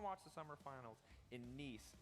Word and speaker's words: Nice: the summer finals in Nice, not nice, how I keep mispronouncing it. Nice.